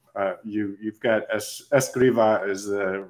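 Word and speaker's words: Escrivá: you found some uh you you've got es Esa is the right way to pronounce it I'm learning now um Jose Maria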